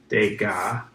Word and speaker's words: Degas: about penny his name is edgar thank you pronounced degas but it's spelled jake vegas was from france